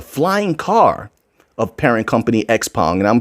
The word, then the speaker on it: Xpeng: It's titled Xpong, Robotics Unicorn for Kids.